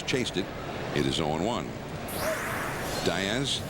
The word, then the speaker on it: Diaz: Diaz, the name would more correctly be said Diaz, but in his family they pronounce it Diaz.